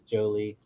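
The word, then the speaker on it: Joly: To be honest, dude, I hate that it's Jolie. I really do. Not spelled like Jolie. Spelled like Jolly.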